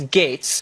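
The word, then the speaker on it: Gaetz: It's G-A-E-T-Z. It's pronounced Gates, but no one knows how to say that. I'll tell them it's Gates.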